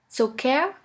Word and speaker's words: Zucker: The first letter combination here is CK, which is simply pronounced like a K. Here we have the example of the word Zucker, which means sugar.